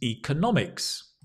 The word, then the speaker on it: economics: And notice the change, right? Up here, the economy, economy. Here, economics, economics, economics, economics, economics. That's it.